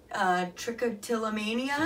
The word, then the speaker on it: trichotillomania: Trichotillomania.